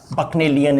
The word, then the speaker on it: Bacchanalian: Pronunciation क्या है? Bacchanalian, Bacchanalian is the pronunciation, Bacchanalian होता है।